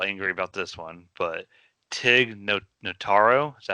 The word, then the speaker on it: Tig Notaro: I think Mikey's a little angry about this one, but Tig Notaro, is that how you say his name?